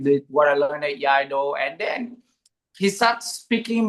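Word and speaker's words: Iaido: Yaido. What's how do you say it? Sorry. Eido.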